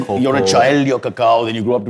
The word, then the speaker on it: cacao: People say that wrong all the time. Cacao, yes. Cacao is the right way to say it.